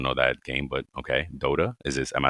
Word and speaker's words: Dota: Dota is this. Am I saying it right? Dada.